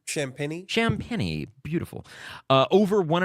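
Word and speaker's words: Champagnie: people um is uh Julian how did you pronounce his name champeny champeny beautiful uh over one and a half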